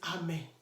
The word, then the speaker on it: Ame: So the quickest example here is Ame. Ame. Ame is spelled as A-M-E.